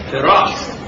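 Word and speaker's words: Feras: Firas? Firas. How do you spell it?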